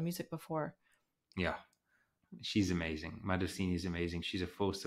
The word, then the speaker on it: Madosini: I'm probably saying her name wrong. No, you're saying it right. Okay. Madosini.